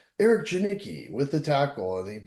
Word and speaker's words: Janicki: It's JANICKI, but it's That's what I thought.